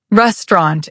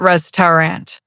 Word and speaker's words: restaurant: Restaurant is restaurant, not restoant.